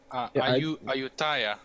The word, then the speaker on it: Ayutthaya: Ayutthaya.